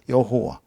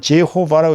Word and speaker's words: 여호와: 여호와. 이걸 이제 영어로는 제호와라고 읽지만 어 히브리어로 원어은 여호와입니다.